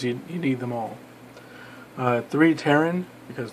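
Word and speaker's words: Pteran: need them all three taryn because the P is silent as in pterodactyl when this card destroys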